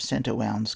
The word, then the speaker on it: St. Warna: We soon, however, are under the shelter and abreast of St. Owen's Cove. Reader's note, that's spelt St. Warna, W-A-R-N-A, but there is a pronunciation note in a later chapter.